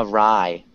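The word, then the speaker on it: wry: Ah, rye. A rye. Ah, rye. Damn pronunciation.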